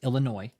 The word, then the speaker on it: Illinois: Brooklyn Illinois Illinois David the S is silent on Illinois Illinois okay it's Illinois all of the Juke